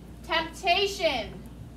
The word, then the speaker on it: temptation: number four temptation now temptation has a silent p in it although it's really not silent we just don't really hear it as well temptation what is temptation ethan